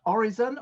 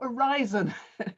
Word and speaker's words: Oryzon: the chief executive officer of orizon or in fiorin spain or horizon if you're in the rest of the world it seems to have some different pronunciations uh welcome it's very